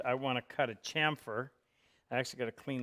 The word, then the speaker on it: chamfer: I'm going to cut a chamfer on the two edges. People still call this a camphor. This is spelled Chamfer, and it is pronounced chamfer. As in champion.